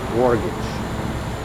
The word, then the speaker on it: mortgage: Mortgage. Mortgage. Mortgage. Which letters I don't pronounce?